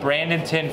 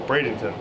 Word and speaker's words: Bradenton: uh from jay marowski brandenton florida oh bradenton bradenton that's it i can't pronounce anything